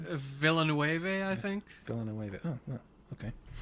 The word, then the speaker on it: Villeneuve: I'm gonna torture his last name, Villeneuve. How do you pronounce his last name? Villeneuve, I think.